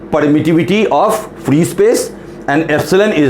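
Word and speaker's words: epsilon: ये जो हम टर्म लिखते हैं ऐसे लिखते हैं, इसको हम प्रोनाउंस करते हैं एप्सिलॉन।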